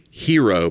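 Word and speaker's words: Hearo: It's called Hero, but it's spelled with H E A R.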